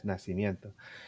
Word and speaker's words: Nascimento: Nascimento. Edgar, what do Ma- you have for us? Mateos Nacimiento. You could say it like in Spanish, Nacimiento. So our good friend Leonardo, remember Leonardo?